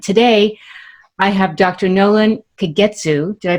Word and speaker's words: Kagetsu: all over and today i have dr nolan kagetsu did i pronounce that correctly yes okay excellent joining me